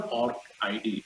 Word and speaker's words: ORCID: research visible is a ORC ID or ORCID. Some different people, they pronounce differently.